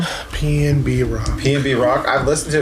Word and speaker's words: PnB Rock: Pnb Rock.